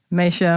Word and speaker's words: Maysha: so I'm saying it correctly how do I pronounce your name Mesa Misha okay nice well thank you for coming